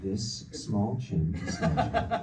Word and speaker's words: Dastmalchian: And by the way, it's pronounced this small chin.